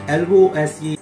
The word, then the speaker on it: lose: So mainly you have to pronounce that L-O-S-E, lose.